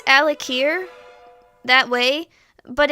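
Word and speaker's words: Alik'r: of trivia we pronounce al akir that way but it's weird because we're putting the emphasis on the apostrophe al akir there is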